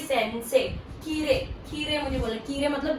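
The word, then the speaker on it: きれい: तो इसकी प्रोनाउंसिएशन में ई के बाद जब आई आता है तो आई की हमें अलग से साउंड नहीं आती है, वो साइलेंट टाइप का रहता है, ए की आवाज आती है।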